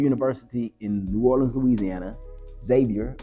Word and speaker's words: Xavier: Xavier, but it's spelled with an X.